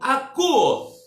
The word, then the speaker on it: akuo: É o verbo akuo.